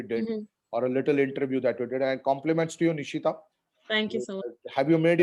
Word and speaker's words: Nishita: Thank you so much, Nikita, for hosting this. Thank you, And sir. Nishita, sorry.